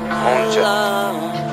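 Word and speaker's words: 혼자: Honja. Honja. Yeah, Honja. Honja. Hey, yeah. Honja. Honja? Honja. Okay. Honja. Honja. Honja. Honja. Honja. Alone. Alone. Alone. Yeah. Alone. Yeah. Honja.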